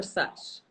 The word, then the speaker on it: SASH: Is it SASH or SUSH? The acronym. I SASH. didn't think that people would actually pronounce it as Sash.